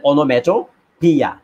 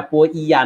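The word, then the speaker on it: onomatopoeia: আমরা উচ্চারণ না করে শুধুমাত্র লাস্ট যে ভাওয়েল সাউন্ডটা রয়েছে সেই ভাওয়েল সাউন্ডটা আমরা এখানে উচ্চারণ করেছি। তো ইয়া একটা সাউন্ড আর কি। হ্যাঁ, তো সেই জন্য আমাদের অনোম্যাটো পিয়া, এটা পো ইয়া না, ও ইয়া না, অনোম্যাটোপিয়া।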